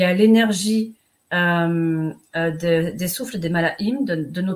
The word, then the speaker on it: Malachim: Alors, explique-nous juste ce que c'est que le malahim, alors. Donc, ça s'écrit malakim. Malahim, c'est le souffle des anges.